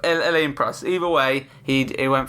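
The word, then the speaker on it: Alain Prost: Also always said Alan Press, but Elen Press.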